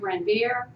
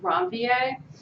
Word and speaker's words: Ranvier: might say nodes of ranvier but it's a French term so it's nodes of ranvier and it's areas where